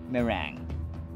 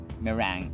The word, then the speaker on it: meringue: more time that's right meringue meringue schwa is in the first syllable meringue sombreros egg whites